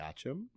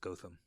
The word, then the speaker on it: Gotham: Gotcham? What is it? It's spelled Gotham, Yeah. like in Batman, Yeah. but it's pronounced Gotham.